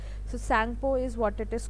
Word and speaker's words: Tsangpo: Okay, and from Tibet, in Tibet it is called as Tsangpo, Tsang, Tsangpo. T is silent. So Tsangpo is what it is called in Tibet.